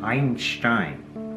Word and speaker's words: Einstein: this was albert einstein i'm going to pronounce his name in the german fashion einstein it's how they would